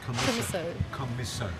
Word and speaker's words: Commisso: What do you pronounce it? What? Go Troppo? No. No, which male business? Oh, Commisso. Commisso.